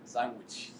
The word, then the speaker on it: Sanguich: Sanguich.